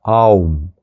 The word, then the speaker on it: Ом: что когда мы произносим слово «Ом», которое произносится как «Аум», когда мы произносим этот звук, эти звуки санскритского алфавита рождаются в разных точках нашего тела, верно?